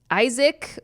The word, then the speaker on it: Aizik: My name is Isaac. Oh, it's spelled differently. It's spelled Aizik. Oh, that's not classic at all. But it's a new Isaac. He says pronounced Isaac.